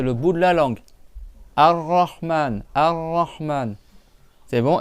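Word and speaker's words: الرحمن: Et tu dois le doubler. C'est pas tu dis arraan, c'est rahman. Tu fais une cha tu fais deux r à la suite. Un premier sans sans voyelle et un deuxième R avec le son A.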